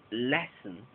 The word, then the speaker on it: lesson: En la palabra lesson, es lo mismo. Less recibe toda la atención y un, lesson.